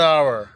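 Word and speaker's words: hour: For example you कैन see here N enemy, N एस, एन इंक पैड, N orange, an umbrella, an आवर। Although यहाँ पर H letter शुरू हो रहा है लेकिन फिर भी ओ आवर की बात हो रही है।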